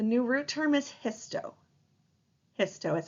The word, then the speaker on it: histo: root term the new root term is hiso hiso is how you pronounce that and that happens to mean tissues